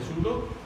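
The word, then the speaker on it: pseudo: पी यहाँ silent है, स्यूडो solids.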